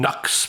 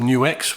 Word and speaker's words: NUX: new x tape core some people call them nux but i call them new x which is the proper way to say it i love this pedal